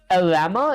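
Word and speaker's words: Llama: Your game sends the player message to an AI model like open AI, claw or lama is how you pronounce it.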